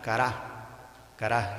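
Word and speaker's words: קָרָא: hebreo, ¿verdad?, se dice, en vez de decir cara, solo se le pone el acento en la A final, cara.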